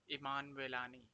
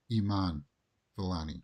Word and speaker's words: Iman Vellani: I like it when they show real-life examples, not just the computerized version of, this is how you pronounce this name. Iman Vellani. Iman Vellani.